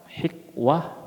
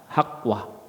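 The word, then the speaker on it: حقوه: memberikan kepada kami hakwanya ya bisa dibaca dengan kasrah hikwah bisa dibaca dengan fathah hakwah tetapi kata ulama ya yang Makruf dengan fathah hak wahu dan huzail membacanya dengan kasrah maksud hakwah di sini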